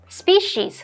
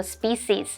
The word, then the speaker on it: species: 单字的部分有 incredible 是形容令人难以置信的极好的 exception 名词表示例外除外 adapt 动词表示改变以适合或是使适应新的用途或情况 species 或是念作 species 这个名词表示动植物的物种 estimate 动词表示估计估算文法的部分，我们第一个学到 as